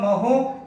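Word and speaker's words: mho: इसको हम महो या महो से प्रोनाउंस करते हैं, ये इसका जो है मात्रक भी होता है।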